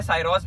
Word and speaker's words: Syros: आप इसे सिरस भी बोल सकते हैं, साइरोस भी बोल सकते हैं. तो प्रोनाउंसिएशन डिपेंड करता है लाइक पर्सन टू पर्सन, वैसा है प्रोनाउंसिएशन इस गाड़ी का.